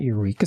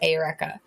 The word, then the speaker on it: Eureka: characters seven it's not Eureka Seven that's what it is I don't know I've heard the wheat that weaves you're supposed to pronounce it ayureka but that's I also